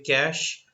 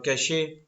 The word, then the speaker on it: cache: what it means when we say cash or cashier however way you pronounce it it's both are correct but cashed or cache